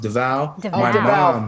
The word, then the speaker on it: Devale: to let you know my name is actually pronounced davao i'm sorry you're gonna kill me because it's davao yes yes my mom